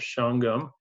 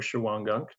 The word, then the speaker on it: Shawangunk: This is the town of Shawangunk, or Shawangunk, two different pronunciations, but you can tell it's used because there's a no dumping sign, but there was a trail amidst that.